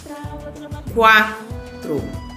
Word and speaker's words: quatro: Por exemplo, quiabo. Ouviu o som do U? Não. Quatro. Eu ouvi. Aquoso. Aquoso. Ouviu o som do U? Ouvi. Nessas palavras, a letra U é pronunciada? Sim, né? Por quê? Porque a gente ouve o som da letra U.